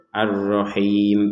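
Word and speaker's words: الرحيم: Nah, ar-rahim di sini tidak ada harokat berdiri, cuman di sini ada harokat kasroh kemudian bertemu dengan huruf ya sukun sehingga dibacanya ar-rahim, bisa dua harokat, 4 atau 6 harokat.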